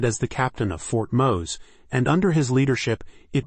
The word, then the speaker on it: Mose: Menendez is most famous for his role in establishing and leading Fort Mose, pronounced Mose, the first legally sanctioned free black settlement in what is now the United States.